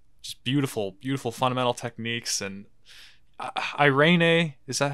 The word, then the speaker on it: Irene: And Irene, is that how you say it? Irene? Irene, Irene yeah.